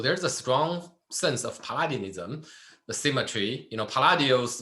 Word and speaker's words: Palladianism: Palladianism. Very good. That's also my observation. I think the closest examples we covered so far is Palladio, right? Palladianism. So there's a strong sense of Palladianism, the symmetry.